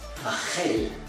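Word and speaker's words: רחל: As you can recall, the A and the E are pronounced as A and E in Hebrew in this case. And indeed, in Hebrew, Rachel is Rachel.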